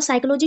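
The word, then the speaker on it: psyche: हुई है ठीक है साइक स्पेलिंग ध्यान रखना पी एस पी एस वाई सी एच ई ये साइक ठीक है और दूसरा है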